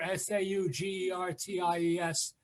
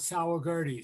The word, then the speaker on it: Saugerties: the river there's a there's a town here s-a-u-g-e-r-t-i-e-s and it's saugerties and people call it sour gertie so it's or sugar times yes all right well i'm just like i